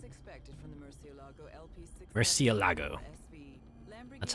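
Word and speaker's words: Murciélago: Murcielago. That's how you pronounce that.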